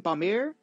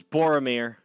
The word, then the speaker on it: Boromir: stopped and i want how do you pronounce his name bamir it was boromir oh boromir my apologies i want him